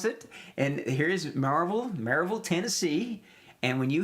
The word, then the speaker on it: Maryville: town of maryville tennessee it's pronounced marvel or marvel all right so that's how you pronounce it and here is marvel maryville tennessee and when